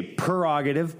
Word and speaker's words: prerogative: They say prerogative, but it's prerogative. I'd say prerogative. Yeah. So I don't say it's it right. It's prerogative. P-R-U-H. So the pro rather than the per, P-E-R.